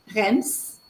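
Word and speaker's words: Reims: cas d'autres possibilités e i m plus consne rems la ville de rems c'est un exemple de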